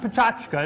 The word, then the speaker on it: Pecha Kucha: as you see in the program uh but pronounced pachka it's a Japanese term for a presentation format